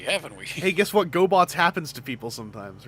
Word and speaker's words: Gobots: Uh, also there like there was a French Gobot sequel that was just Revenge of Kronos, but they called it La Rav Gobo because that's how you pronounce Gobots in French.